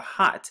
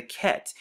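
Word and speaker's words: ח: And then the next letter right here is the Chet, or the Ket right here. It's commonly pronounced as the Chet when it comes to modern Hebrew.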